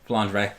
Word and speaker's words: Flandre: How do you pronounce the name? Flandre.